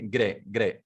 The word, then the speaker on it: g'day: So the pronunciation is g'day. But how you'll write? You'll write in the same way, good day.